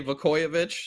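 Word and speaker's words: Vukojevic: Thompson um umevic uh like I like to say vakoyovic is is actually how you pronounce this name um grits Lake like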